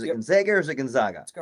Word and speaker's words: Gonzaga: Is it Gonzaga or is it Gonzaga?